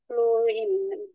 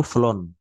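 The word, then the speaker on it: flown: ওকে, ফ্লাই, ফ্লো, ফ্লিউ, ফ্লোইন, ঠিক আছে কিনা, ফ্লোইন। হ্যাঁ, এটা উচ্চারণটা হবে ফ্লাই, ফ্লিউ, ফ্লোন, ফ্লাই, ফ্লিউ, ফ্লোন।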